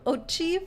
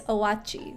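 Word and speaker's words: Oatchi: was mixing it up I did try and call him Ochi for a while like oat and Chi but apparently it's owachi like three syllables but I feel like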